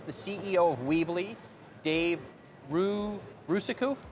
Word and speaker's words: Rusenko: And our next guest is the CEO of Weebly, Dave Rusenko? Rusenko. Yeah. Just about. Kristen likes it in there like phonetically like that, and it messes me up even more.